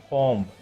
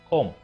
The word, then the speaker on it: comb: Many people pronounce that word as comb. Comb, but that is wrong. There is no B sound in that word.